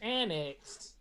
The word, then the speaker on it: Annick's: So her last name is Annex, and she teaches at the Annex. Right, but it's spelled Annick's.